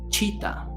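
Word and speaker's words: citta: el glosario le llamamos Chita Chita Chita Exacto como el animal pero no se escribe igual Chita que significa mente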